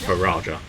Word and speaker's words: Raja: mexican twang i think it's meant to just be raja um where you pronounce the j like you would normally pronounce the jay but uh i must